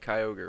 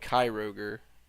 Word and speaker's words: Kyogre: Um like they would just like the whole thing like legendary Pokemon Kyogre, right? They called it Kyroger and then there's like the little like uh baby form of like Clea, they called it Clea.